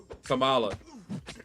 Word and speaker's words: Kamala: I have a relative, and that's how we say her name, Kamala.